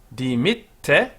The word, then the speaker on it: dimitte: Et dimitte, notice the two T's, dimitte nobis debita nostra, debita nostra, nostra, dimitte nobis debita nostra.